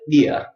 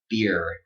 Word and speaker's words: beer: like you're saying, and you just, b in front of it, bia, bia, bia. So that's British pronunciation. Americans, we never say ia, ia, okay? We give it the strong R, beer, beer.